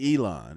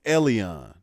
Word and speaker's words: Elon: His name ain't Elon. It's Elon is how it's pronounced.